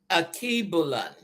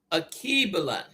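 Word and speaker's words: Alkebulan: Now, the true name for Africa, I'm going to spell it. Capital A, L, K, E, B, U, L, A, N. Akibulan. Akibalan or Akibalan, and it means mother of mankind or the Garden of Eve.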